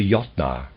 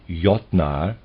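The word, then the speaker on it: Jötnar: close bracket readers aside ynar is spelled j o umlout t n a r and I'm pronouncing that ynar probably is more accurate end of readers aside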